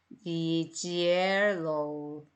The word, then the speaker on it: yellow: L이 두 개지만 발음은 하나만 소리 났네 이렇게 이해하시고요.